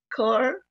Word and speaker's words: Kaur: The Sing, and would it be Car Park? Correct. No.